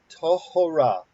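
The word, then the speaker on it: טהורה: saying oh okay um the this this vowel is pronounced so therefore this has to be a syllable okay okay so you want to have take another crack at it exactly tohora so this is this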